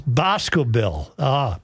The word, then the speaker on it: Boscobel: It's Boscobel. Boscobel. Not Boscobel. It's Bosco. Emphasis on the first syllable.